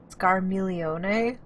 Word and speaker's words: Scarmiglione: I really cannot stress to you how wrong I've been pronouncing this dude's name. Scarmiglione? Okay, good to know. Definitely wasn't saying it with quite as many syllables and as nice and flowing of a structure.